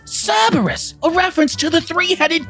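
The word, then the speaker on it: CRBR-S: is called crbr dashes if you pronounce that out loud it's cerberus a reference to the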